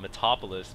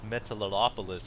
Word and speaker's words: Metalopolis: 12 o'clock position of Metalopolis. I have a hard time pronouncing the name of this map. So usually I just call it Metopolis, but yeah, apparently it's Metalopolis or whatever, something like that.